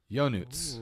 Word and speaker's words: Ionut: So, I want to play that out because that's not how we pronounce her name. No, that's all right. Listen. Yonuts.